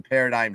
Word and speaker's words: paradigm: always uh have the paradigm shift on you as a gambler as everybody knows sure I love I love the silent G in Paradigm man